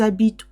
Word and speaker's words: habitent: The ENT with the they form of the verb is always silent. I know. ENT with the they form of the verb is always silent. You have to pretend it's not there.